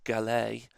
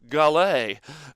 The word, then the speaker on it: Gallet: this means ever since the gillette battle pack or or gallet if you uh or franch or shantae gallay um if you uh